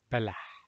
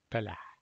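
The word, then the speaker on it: بلح: So this is B Lam Ha. B like here from Sabah, Lam here, and Ha. Balah. Balah.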